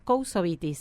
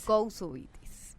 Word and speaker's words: Koutsovitis: Lo pronunciaste perfecto, Kousovitis. Kousovitis. Bien, es griego mi apellido.